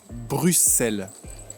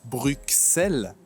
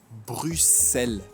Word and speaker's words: Bruxelles: Et non, bien sûr, ça se dit Bruxelles. Et oui, on ne dit pas Bruxelles, on dit Bruxelles avec un S, un seul S.